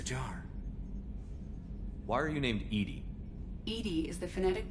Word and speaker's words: EDI: airlock is a jar why are you named Edie Ed is the phonetic pronunciation of Ed I that is an acronym